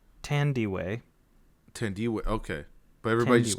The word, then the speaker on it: Thandiwe: You don't pronounce the H. It's Tandy.